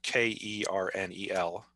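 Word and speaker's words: colonel: common for example in english the word kernel k-e-r-n-e-l and the word kernel c-o-l-o-n-e-l are pronounced the same so we would get a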